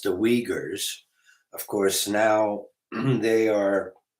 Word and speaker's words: Uyghurs: was, that now the people, the Uyghurs, it's pronounced the Uyghurs, of course, now they are making history because